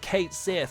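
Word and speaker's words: Cait Sith: You go on Twitter and they're like, it's pronounced Kate Sith and it's like you.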